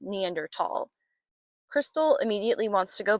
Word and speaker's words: Neanderthal: up to them, but reluctantly leaves, calling them Neanderthalss, which was my first introduction to that word as a child. Later, when I would study human evolution in college, I would learn that it's actually pronounced Neanderl.